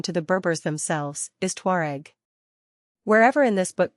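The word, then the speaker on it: Tuareg: But the modern pronunciation of this Arab term, it is unknown to the Berbers themselves, is Tuare.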